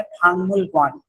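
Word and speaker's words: 박물관: ये वर्ड बनता है फांगमुलगवान लिखा तो फाकमुल ही है लेकिन प्रोनाउंसिएशन इसकी क्या होती है फांगमुलगवान ठीक है फांगमुलगवान इसी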